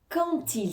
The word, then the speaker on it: quand il: honnête je suis fatigué quand il s'agit de quand il s'agit de ici le D de quand va se prononcer un peu comme un T quandil quand il s'agit